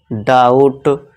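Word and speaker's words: doubt: इसी तरह देखिए टी से पहले फिर से बी आ गया। तो यहां साइलेंट हो जाएगा। तो इसे क्या पढ़ेंगे? डाउट।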